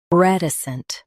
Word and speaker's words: reticent: Reticent. Both US and UK have the same pronunciation of this word. Stress R. Keep T soft and end with a light snt.